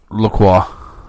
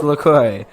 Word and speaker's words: LaCroix: root beer over the top of Gandhi it's Lacroix it's no little girl also watch and I